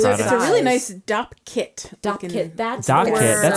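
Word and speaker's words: Dopp kit: I always call it doc kit, DOC. Oh, I think it's DOP. What's the correct word? It's called a DOP kit.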